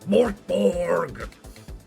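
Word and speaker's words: Mörk Borg: Hamsonator is pronounced Mortborg, but you know, I want to save my voice.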